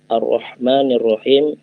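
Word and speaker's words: الرحمن الرحيم: arrohmanirrohim arrohmanirrohim arrohmanirrohim muat hati-hati huruf H yang tipis dan tebal arrohmanirrohim itu memakai huruf yang hacktivist jadi jangan sampai kita membacanya dengan menebalkan huruf tersebut detik kita pacar aku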